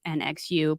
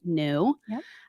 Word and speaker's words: NXU: vehicles and now the company is nxu pronounced new um so they're going